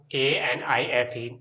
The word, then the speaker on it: knife: then we have knife in the kitchen, knife का मतलब चाकू, KNIFE, knife, K इसमें साइलेंट होता है, ठीक है, इसको knife पढ़ते हैं.